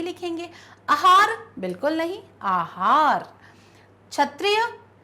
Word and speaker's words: क्षत्रिय: शब्द बोलेंगे सही लिखेंगे आहार बिल्कुल नहीं आहार क्षत्रिय तो छतरियां नहीं है क्या है शब्द छतरिया छतरिया तो